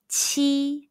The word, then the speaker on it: q: pinging the pronunciation is chi chi chi chi it's like the ch in the english word cheese but with a stronger puff of breath when you pronounce the